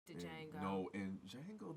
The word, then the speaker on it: Django: No, in Django, the D is silent. Django.